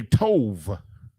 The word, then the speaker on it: tov: And one of the ways they pronounce it is with a va. They do the va instead of a ba. Like we say tawab, which is good. They say tov.